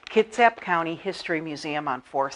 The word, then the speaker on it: Kitsap: want to make sure I say it right Kitsap County History Museum on 4th Street and we're